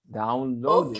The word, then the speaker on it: downloaded: We have already downloaded in past, downloaded. Okay. Remember, Load. recuerden que si el verbo termina en D, entonces se pronuncia la ED.